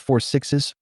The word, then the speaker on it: 6666: There are also several others in the works, including 1944, The Madison, 6666, pronounced 4 sixes, One About, Beth and Rip, Wheeler, Cole Hauser, and One About.